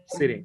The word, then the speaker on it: sitting: সিরিং, ওরা যখন দ্রুত বলে ওটাও, হ্যাঁ ওরাও ড দিয়ে বলে, রাইট, অনেক সময় Sitting. শুনেছি সিরিং। স্যার ফিটিং FITTING স্যার, ফিটিং। Feeding ফিটিং, right.